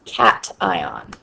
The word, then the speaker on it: cation: call it an ion the second word is pronounced cat ion okay and a cat